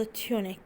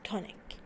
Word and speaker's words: tunic: Okay, طبعا في البريطاني ممكن تلفظ تيونيك. اوكي, لكن في الامريكي تونيك.